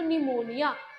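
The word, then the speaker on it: pneumonia: एक तरह से तो निमोनिया पी is silent always पर पी हम लिखते हैं निमोनिया निमोनिया निमोनिया P silent है तो इन दोनों में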